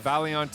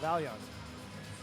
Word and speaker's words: Vaillant: Hey, how do you pronounce the arena? The Vaillant Arena. Vaillant.